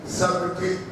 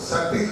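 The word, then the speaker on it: subtle: बी टी एल ई सबटिल अरे सबटिल नहीं कहा जाता उसको सटिल कहते तलफुज में क्या है सेटिल हार्ट लिखना सब दिल लिखते हैं।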